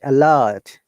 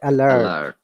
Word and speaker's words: alert: catch now uh sharia if you're pronouncing the british ipa art should be silent a lot but alert alert in american english okay i often mix